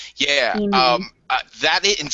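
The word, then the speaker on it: Emaan: E-Man. Spell it. E-M-A-A-N. E-Man. Yeah. E-Man.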